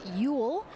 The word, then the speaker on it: Ule: Ule and Cassandra giry I made sure to ask Taylor specifically how to say her last name I was getting it wrong a little before it is Ule so she is living